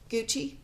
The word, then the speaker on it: Gucci: have a nickname good Gucci yes so like g-u-c-c-i-g-u-x I g u x x i you pronounce it Gucci yeah yeah and you